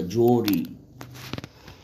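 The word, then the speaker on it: jewellery: جوري، جوري اللي هي المجوهرات، نطق كده جوري، جوري اللي هي المجوهرات.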